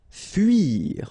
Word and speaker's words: fuir: Fuir. Okay, it can be quite tricky, especially for English-speaking persons and Spanish-speaking persons as well. This U sound. Okay, so it's not U, it's really narrow. It's U.